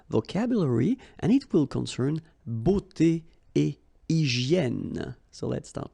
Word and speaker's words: beauté: But then it will give you the sound o, beauté, okay?